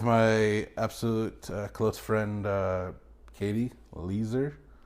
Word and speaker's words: Lieser: So anyways, I'm here with my absolute close friend, Katie Leeser. Said it correctly. Literally just learned an hour ago how to say it. It's not leisure.